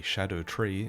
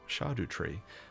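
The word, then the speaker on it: Scadutree: means shade or Shadow so this is a shadow tree and it's pronounced shadu tree or Shadow tree I guess that's fine as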